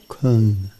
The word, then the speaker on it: Köln: Köln.